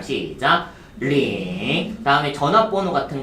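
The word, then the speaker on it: 零: 숫자 0은 링. 발음 시작. 링.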